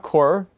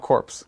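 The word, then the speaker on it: Korps: It's not core. It is core, not corpse. Corp. Or corp. Corpse. I think we're not supposed to say the P. is silent, Yeah, the P is silent.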